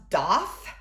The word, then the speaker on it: daith: I wanted to get, I guess it's pronounced Doth. I guess that's how you say it. It's spelled Daith, which the former reading teacher in me, I'm like cringing at that right now because I'm like, no, it's AI says A.